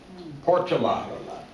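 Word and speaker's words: Portolá: First one is Gaspar de Portola, with an accent on the last A.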